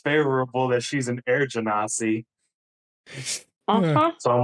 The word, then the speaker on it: genasi: She is an air genasi. I would How do we say say that? I would say Genasi myself, but I doubt there's one single pronunciation.